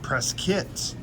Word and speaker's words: Prescott: at the Target in prit Arizona it's spelled Prescott but it's pronounced pres kit and we're going to